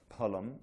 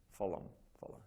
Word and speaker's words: phalam: And this, since we're into pronunciation, the word P-H-A-L-A or A-L-M, there's no F. You know, that I think that's been brought in by the British, you know, phalam, yeah. Palam, this is the aspirated P.